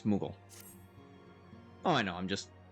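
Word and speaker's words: Moogle: times higher than Gladiator Moi no it's mugal oh I know I'm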